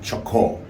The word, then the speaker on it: Chocó: So, over the past few months, I've had this weird obsession with the Colombian department of Chocó, which I never pronounce. You have to really enunciate that O.